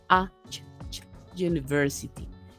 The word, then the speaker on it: university: que usted dice aquí University Sí usted pronuncia así como una claro como la u suena como una y prácticamente como una como